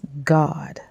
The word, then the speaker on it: God: says God and then look at the phonetic spelling g-a-d-d and the two dots at the top means it's pronounced ah so it's God okay um and if